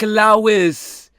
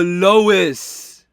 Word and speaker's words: Lois: me is oh like lais um no Louis lais lais lais what's it lais Griffin in it that that the mum in it lo oh Lois Lois that's how you say it I say Lois right